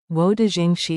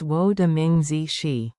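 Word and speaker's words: 我的名字: Wo de Jing Xi Sheldon Howard. No, it's Wo de Ming Zi.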